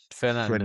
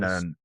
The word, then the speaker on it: Fernandes: is Bruno Fernandez. Fernandes. Fernandes. I think that's the way Yeah, it's pronounced, but yep, we yep, call it Fernandes.